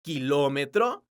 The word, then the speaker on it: kilómetro: letra u ejemplo dos la palabra kilómetro es una palabra porque su sílaba tónica es la sílaba lo entonces tiene un acento